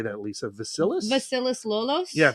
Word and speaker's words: Vasilis Lolos: Vasilis Lolos? Yeah, Vasilis Lolos.